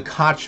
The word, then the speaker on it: Koch: candidate here yes the coke family correct the Cook family coke like from the coking process you know the coking I'm going to call them the kotch family if that's okay